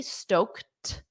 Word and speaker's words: stoked: fired up he stoked so again that soft T stoked stoked he's buzzing oh you